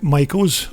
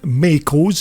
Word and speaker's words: Maicos: Now, this bike of Kevin's is just one of two Maicos, or Maicos if that's the way that you prefer to pronounce it, but Kevin also races